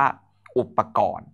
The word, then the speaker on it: อุปกรณ์: สุด เลย นะ ครับ คำ แรก อ่าน ว่า อุปกรณ์ สะกด ครับ เป็น อุปกรณ์ นะ ต่อ ไป คณิตศาสตร์ นะ